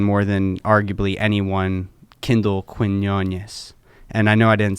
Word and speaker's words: Quinones: So can we get a nice pronunciation of that last name? Quinones. Quinones? Quinones. Okay. Quinones. Quinones. Yeah. Shaq didn't pronunciate it. Or you could do Quinones.